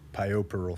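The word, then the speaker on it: puerperal: simple device was treating pioparal fever which is spelled like poor Peril p-u-e-r right I I honestly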